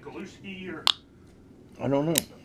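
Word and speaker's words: haluski: That kid, it's like Galuski or... I don't know. Something like that. It's about Galuski, but my dad said the H's are often... pronounces G's.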